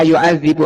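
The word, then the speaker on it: يُعَذِّبُ: Pertama bacanya yang kita lihat di mushaf, fa yauma idzin la yu'adzibu adzabat. Yu'adzibu ya, di kasrah zalnya.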